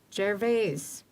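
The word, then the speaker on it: Gervais: jerves is that really how you say it I've called it Jarvis my whole life Jarvis it's Jarvis and local loal vernacular the French connections with thank you I've just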